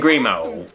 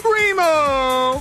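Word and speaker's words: Grimault: So after Nina wins, we're presented with the next contestant, Simon Grimo. And yes, that's actually how they pronounce it in this show. Simon Grimo!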